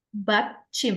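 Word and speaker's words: 받침: Lalu di bahasa Korea itu ada yang namanya BAT Chim. Ini panggilannya BAT Chim. B A D C H I M.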